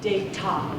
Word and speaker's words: Data: inspired me to use the pronunciation data and I always pronounce that tea very crisply not like a d as in data or data data data always a date top so it really got